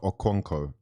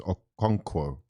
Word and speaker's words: Okonkwo: It's not Okonkwo. It's not. It's Okonkwo. You got to read it carefully.